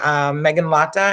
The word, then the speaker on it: Meghanlata: Hello, did I pronounce? I should have double checked before. Meghanlata, is that correct?